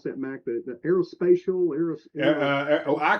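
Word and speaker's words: Aérospatiale: How do you pronounce that, Mac? The aerospatial? I call it Aerospatiale.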